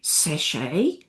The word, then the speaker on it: sachet: Sachet without a t, satchel with a t.